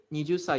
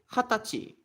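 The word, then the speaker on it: 二十歳: So you don't say nijusa, you say hatachi.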